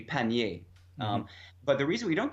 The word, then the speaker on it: pannier: they're very similar if you listen carefully pannier and pannier we have that slightly that we do give it that mid vowel and as a variant pannier and pannier they're almost the same sound and the reason we don't give the the French so in French would be panier but the reason we